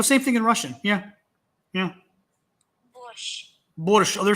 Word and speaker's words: борщ: It's borscht. Борщ. So it is sh. Yeah, you're right. You're right. I don't know why we do it with a T in English.